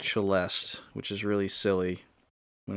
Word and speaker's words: Celesta: people that play this game we'll call it Celesta Forest but that is a musical instrument and it is actually pronounced chelest which is really silly when it's written that way uh south of Baroque is cheste Forest the cheste is like a little tiny